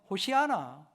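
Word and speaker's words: הושיעה נא: 25절에이 말씀이 나와 있습니다 히브리 발음으로 하면 호시하나 호시하나 이런 식으로 발음하게 됩니다 근데 예수님 당시에는 이게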